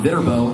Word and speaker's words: Viterbo: And if you know anybody who goes to Viterbo, I'm there tomorrow night. Let them know. And did I say the word, say it wrong? Viterbo. It has turbo in it.